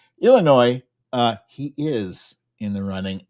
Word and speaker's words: Illinois: You don't pronounce the S. Illinois, he is in the running.